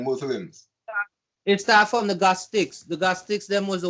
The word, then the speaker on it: Gnostic: That's when they set it to and it's the Gnostics with an N. You check? Because if you realize they used to the G silent.